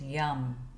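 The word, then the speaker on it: यं: And this is the side of the air element and the sound is yum.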